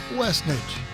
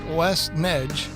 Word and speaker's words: Westnedge: It's one word. It's pronounced Westnedge, not Westnedge.